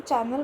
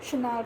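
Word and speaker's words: Chanel: आप कोई भी ब्रांड लो, जैसे शनैल, डायर, इसको शनैल को हिंदी में हम चैनल बोलते हैं, लेकिन इंग्लिश में हम शनैल प्रोनाउंस करते हैं।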